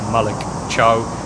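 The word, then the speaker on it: Malick Thiaw: a lot of noise around AC Milan Defender Malik chow and that's how he pronounced it because that's how he watch watch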